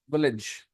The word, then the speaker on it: village: is bigger than a village Village Village village Village village Village village Village stress first village Village stress first syllable second syllable Village yes